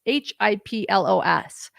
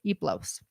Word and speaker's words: Hiplos: That H is silent, by the way. It's Hiplos, but we learned from the group that H is silent. So Iplos.